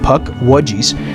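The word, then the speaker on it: Puckwudgie: and they talked about the puckwajis. That's how you pronounce it. puck wedgies.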